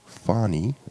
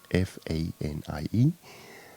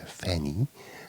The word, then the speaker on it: Fanie: to pronounce my name, it's actually Fani, like a long A, Fanie. So that's my last name, obviously. So you've got Fani. Some American people or some other foreign people say Fanny, which is also fine.